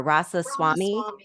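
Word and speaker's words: Ramaswamy: how do you say his last name Tara rasa Swami okay thank you sorry I totally butchered that um I really like him though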